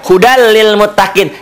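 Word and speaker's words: هدى للمتقين: Dengan ketentuan, cara membacanya, tanwinnya dibaca satu. Jadi hudal. Cara bacanya ini ya, baris ininya, asalnya kan dua, jadi tinggal satu. Tuh. Jadi sini hudal. Hudal lil muttaqin. Diidghamkan, dimasukkan seakan-akan bunyi ini hilang, berubah menjadi hudal, jadi L.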